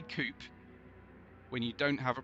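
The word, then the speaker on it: coupé: I don't think I always bump on coupe. I don't know why, but there you go. You've got no problem saying other French words that have an accent on the end. You don't call it a buffet or a ballet.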